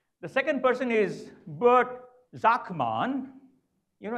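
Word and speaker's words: Sakmann: The second person is Bert Zachmann. You know, in Germany, S is pronounced as Z, and Z as S, okay?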